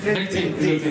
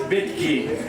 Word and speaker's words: bekti: Is it bekti? Correct. And also In Bengali, there is betki, but when you pronounce in English, bekti.